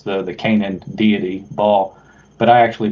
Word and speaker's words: Baal: That's like correct how you pronounce the Canaan deity Baal, but I actually pronounce it bailout, like an economic bailout, bailing out the banks.